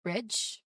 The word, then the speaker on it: bridge: So for this particular word, bridge, that's a J sound, okay? There's a J sound in there at the end. So you don't hear a separate D sound before the J sound, all right?